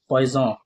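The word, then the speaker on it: poissonnier: उनका नाम है सेफ पोइजन। पोइजन का स्पेलिंग होता है पी ओ आई एस एस ओ एन आई ई आर इनको हम फिश हुक भी कहते हैं।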